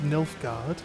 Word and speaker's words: Nilfgaard: On behalf of the Emperor of Nilfgaard. Actually, it's, if you want to say it properly, it's Nilfgaard! Because there's like plenty of A's in there, right?